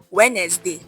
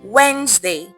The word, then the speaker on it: Wednesday: It's not Wednesday. No, it's Wednesday.